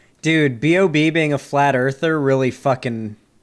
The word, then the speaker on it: B.o.B: the connection who is bob it's b dot o dot b it's not bob it's b.o.b it's how it's pronounced yeah that would be